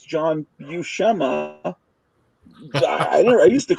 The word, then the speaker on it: Buscema: I learned the pronunciation because I saw that video, How to Draw Comics the Marvel Way, where Stan Lee is with Buscema, and he introduces him as that, and Buscema doesn't correct him. So I assume they know, and that's how I pronounced it.